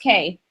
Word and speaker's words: kye: cool as can surmise kai the Kye or Kay pronounced Kay a holdover from the